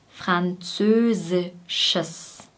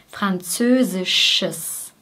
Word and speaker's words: französisches: Hier haben wir am Ende noch ein ES, ein Schwarlaut und ein S. Es. Französisches. Sches. Bei dem Sch gehen die Lippen vor und bei dem S sind sie breit. Sch, sch, Schiss, Schiss, Französisches.